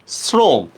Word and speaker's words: শ্রম: 100% percent না, 100% শ্রম। উচ্চারণে আমি তালব্যস্য দিল, সরি বানানে আমি তালব্যস্য দিল, উচ্চারণ করতেছি কিন্তু আমি দন্তস্বর মতো, ঠিক না?